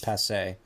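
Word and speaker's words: passé: by the way Henry what's that you pronounce it passe passe oh well sorry piece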